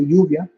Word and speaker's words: lluvia: she'll pronounce it know pronounce it in Spanish way lluvia which is rain it's rain no for Spanish for rain but it's felt in